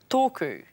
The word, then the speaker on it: tōku: You'll hear the correct pronunciation of each word, and then you'll see how it's spelt. toku Toku means my, referring to one item.